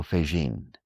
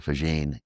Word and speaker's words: Faggin: Another great physicist from University of California at Santa Cruz, Federico Faggin. Faggin is spelled F-A-G-G-I-N.